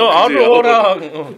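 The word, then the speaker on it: aurora: 저 옛날에 그 영어 오로라를 아우로라라고 읽어가지고 조카들한테 아니 이태리어는 아우로라가 맞아. 아우로라.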